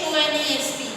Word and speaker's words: honest: If you, the spelling is honest. If I take the first letter, that is H, it is a consonant. But when I pronounce this, when I spell it out, I say honest. H is silent.